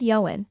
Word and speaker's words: Ioan: He'd said Ioan, something similar to Owen instead of the Americanized version Lacey had told me, closer to Ian.